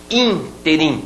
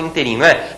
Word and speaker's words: ínterim: pronúncia halcali halcali e ínterim muita gente fala Internet esse inteirinho não pode em nesse ínterim então interessante também uma palavra proparoxítona algumas palavras podem ser